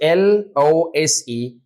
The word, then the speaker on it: lose: you have two words the first word is l o s e and the second word is l o s e the first word is pronounced As lose and the second word is